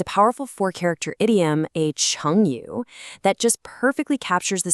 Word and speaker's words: 乘: It's pronounced "cheng".